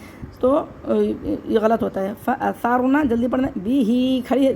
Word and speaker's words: فَأَثَرْنَا: نَقْعًا فَأَثَرْنَا بِهِ نَقْعًا اس کے ہجے کر لیتے ہیں، فا زبر فا، حمزہ زبر آ، فَأَثَرْ را زبر ثار، جلدی جلدی پڑھنا ہے۔ فَأَثَرْ نون زبر نا، فَأَثَرْنَا اگر ہم جہاں پہ